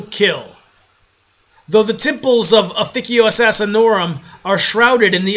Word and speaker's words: Officio: yes it is pronounced aikio if you're speaking Latin if you're speaking English it can be whatever the you want but if you want to say it in Latin it's aikio assassinorum now let's go